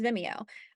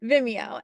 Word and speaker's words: Vimeo: if you have one or I personally use Vimeo I think that's how you pronounce it Vimeo and it's something that can house all your